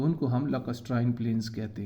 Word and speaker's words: lacustrine: The last one and the fifth one is lacustrine plains. Lacustrine plains, इसको ऐसे आपने pronounce करना है। 3 सिलेबाई हैं इसके।